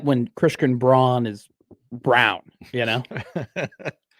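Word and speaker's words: Braun: Like Lei, if you choose to pronounce it that way. Yes. This is like when Christian Brawn is brown.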